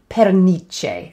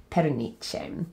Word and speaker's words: pernice: looks really interesting so look up oki di perniche and that's spelled p-e-r-n-i-c-e perniche that's partridges eyes another animology and sticking with